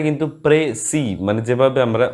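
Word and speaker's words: précis: এর উচ্চারণটা কিন্তু প্রেসি, মানে যেভাবে আমরা উচ্চারণ করি জেনারেলি ঠিক সেরকমভাবেই, তবে শেষের যে এসটা আছে না, সেটা যদি প্লুরাল হয় তখনই উচ্চারণ হয়।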